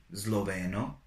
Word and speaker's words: sloveno: is sometimes read as, it's always read as Z at the beginning of the word when it is followed by the letters L, M, N, or B. So we have snack, snack, which is snack in English. Then we have Sloveno, Sloveno, which is Slovenian.